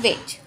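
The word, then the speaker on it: wedge: ये हमारा D silent पढ़ेंगे वेज।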